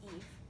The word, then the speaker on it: Eve: It's pronounced Eve. My name is Eve. My mom liked the spelling.